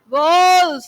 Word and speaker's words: wolf: चांदनी नहीं बेटा, चांदनी नहीं, wolf नहीं, wolf. Wolf is the right pronunciation.